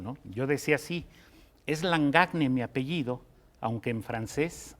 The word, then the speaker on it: Langagne: Mira, me preguntaron cómo decirlo, porque la gente que habla francés dice Langagne, como nadie se atrevería a decir Chaquespeare, por ejemplo, ¿no?